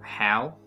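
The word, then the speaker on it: Hyawl: I think Hal should be spelled H-Y-A-W-L. Hale. No, still pronounce Hal.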